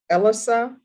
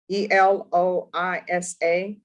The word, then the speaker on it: Eloisa: There's to be no contact with Elisa, Eloisa, Eloisa Eloisa. is how it's pronounced, I learned.